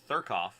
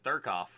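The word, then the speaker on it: Thurkauf: That's Thurkoff. I can never say his name without kind of laughing because it just sounds like you have a lisp. It's Calvin Thurkoff.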